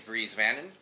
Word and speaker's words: Bries Vannon: Our guest today is Bries Vannon. That's correct. That's how you pronounce it.